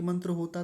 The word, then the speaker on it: मन्त्राः: इस प्रकरण में एक मंत्र होता तो क्या लिखा हुआ होता यहां पर मंत्रः तो मंत्राह ऐसा बोलेंगे एक बार पूरे शीर्षक